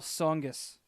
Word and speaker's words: Tsongas: potato right very few words where the t is silent and they all sound wrong yeah right they do like Paul Tsongas why put the tea in that off you're